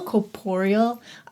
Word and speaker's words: corporeal: Corporeal? Corporeal.